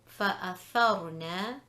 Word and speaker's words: فَأَثَرْنَا: So the first word, فَأَثَرْنَا, the Ra sakina is preceded by a tha with a fatha. So فَأَثَرْنَا is red heavy.